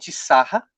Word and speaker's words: Sarah: e o Cardeal hobbies Robert o nome dele é Robert sarra Zara pode ser vou chamar de sabe por quê é a pronúncia francesa que o que eu vi mas tem outras pronúncia que eu já vejo Sara sarrar a enfim tem várias pronúncias vou chamar de cardeal